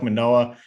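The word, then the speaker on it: Manoah: out to me though alec monae if that's how you pronounce it yep noah all right alec manoa 8.2 k uh first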